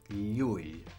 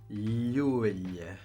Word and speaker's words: Llull: But that LH makes a y sound. And that y sound is present in the name of one of the streets here in Barcelona called Llull. So it's Llull.